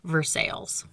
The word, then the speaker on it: Versailles: Township Shopping Center, which shares its name with the French city Versailles, but in Pittsburghese, we pronounce it Versailles.